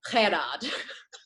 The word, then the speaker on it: Gerard: So the organizer, the way that you say his name, it's spelled Gerard, like Gerhard, but with their Afrikaans accent, they say Gerard.